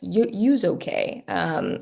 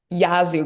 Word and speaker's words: Yazoo: Yeah, Mississippi has clay soils, like Yuzu clay, sorry, sorry, Yazoo clay. That's how you pronounce it. Mississippi has clay roads like Yazoo clay, a highly plastic soil that swells when wet and shrinks when it's dry.